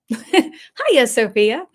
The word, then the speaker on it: Hagia Sophia: you will see that the way I'm pronouncing it looks very bizarre. Ha. Sophia. No G involved. Lots of Yeah. Ha. Hia Sophia.